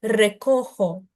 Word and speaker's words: recojo: Não, olha atenção aqui o J de novo, recojo, recojo. E esse R do início é re. Então, é um verbo como, por exemplo, de caro, é o ro, não? Só que ele é mais prolongadinho, então, re.